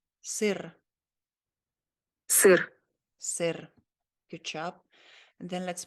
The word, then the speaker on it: Сыр: Сыр. Сыр, Сыр. sir.